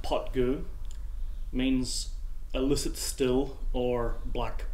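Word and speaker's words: Poit Dhubh: 21 year old minimum and the name it's pronounced pot GU means illicit still or black pot well certainly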